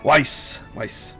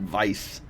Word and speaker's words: Weiss: Weiss. At least I'm not going vice because that's need to remember the edit.